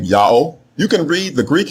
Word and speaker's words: Yahweh: He was told by Hebrews in the 1st century BCE that the proper name of the God of the Hebrews is pronounced Yahweh, exactly in agreement with the Egyptian record and with the much later Assyrian record.